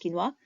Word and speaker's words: quinoa: wholemeal bread, brown rice, oats, quinoa, this is pronounced quinoa.